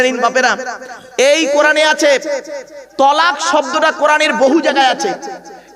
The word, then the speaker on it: তলাক: অনেকে ভয়তে উচ্চারণ করে না। তালাক। কি বলে? কি বলে বাবা? তালাক। শব্দটা তালাক নয়, শুনে যান আজকে, শব্দটা তালাক নয়।